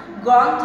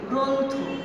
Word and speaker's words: গ্রন্থ: আমি কিন্তু গ্রন্থ বলছি না, আমি কি বলছি? গ্রন্থ, গ্রন্থ ওকার দিয়ে।